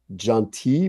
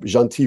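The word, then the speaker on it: Gentil: label of the general category called jaunty but it's spelled gentle g-e-n-t-i-l but it's uh jean t from from alsace france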